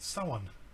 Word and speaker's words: Samhain: would like to know the correct pronunciation for Samhain is it is pronounced someone I've heard that before